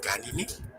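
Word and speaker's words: Caninae: terminan escritas en NAE, que, como hemos visto, se pronuncia como NE. Así tenemos subfamilias como Canine, Feline, Hominine, entre muchas otras más.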